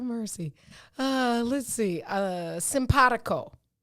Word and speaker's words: simpatico: uh let's see uh simpatico simpadico s-i-m-p-a-t-i-c-o pronounced just like it's spelled simpatico it's an adjective